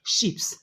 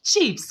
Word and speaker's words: chips: has a bag of ships no she has a bag of chips correct okay let's move on